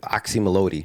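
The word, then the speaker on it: Oczy Mlody: the the new album oxy melodi right that's how you pronounce exactly you're like the first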